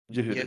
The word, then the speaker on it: Yehuda: However, Rabbi, you're gonna have to help me with these pronunciations. Actually, Yehuda, it's just like Yehuda? Judah. Yehuda, it's Yehuda.